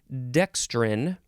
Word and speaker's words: dextrin: in this episode is dextrin, or dextrine, or just dextrin. Again, that's the same thing. DEXTRIN, or you could put an E at the end, and that is when you would pronounce it dextrine.